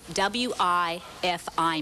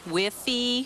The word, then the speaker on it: Wi-Fi: age of 31 is what does wi f I mean why whiffy what is that actually pronounced Wi-Fi and it's just a